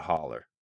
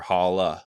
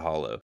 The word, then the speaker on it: holler: Everyone call it a holler or holla. Yeah. Not a hollow. Never a hollow.